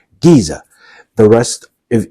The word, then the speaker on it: Giza: that comes after it you will pronounce the G sound not the J sound okay let's review one